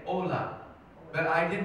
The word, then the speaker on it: hola: in spanish it was h-o-l-a ola but i did not know you don't pronounce the h so everybody i saw